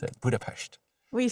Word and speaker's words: Budapest: you said budapes budapes yeah that's how you pronounce it budapes what you say say budha Budapest here bu yeah which is kind of gr